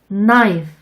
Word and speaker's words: knife: K의 발음이 묵음인 경우도 있어요. K가 N을 만나면 부끄럼쟁이 K는 숨어버리거든요. 이쪽도 따라서 연습해 볼게요. No, knock, knife, meat, knob.